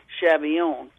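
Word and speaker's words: Schabilion: pronounce that last name my maiden name was chilion spelled s c h a b i l i o n it heralded from alace Lorraine and was actually pronounced shabon when we when the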